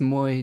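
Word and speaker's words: Moi: Like, you pronounce Moy just as it's written. Oh, good. Sounds like my pronunciation might be correct then, hopefully. So Moy, all of you friends in Finland.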